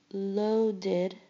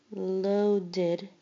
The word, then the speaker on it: loaded: Loaded. Loaded. Notice you have the id, waited, id, loaded at the end.